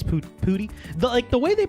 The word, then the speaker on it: poutine: They give us pronouncers. They say, Pootie, not Putan.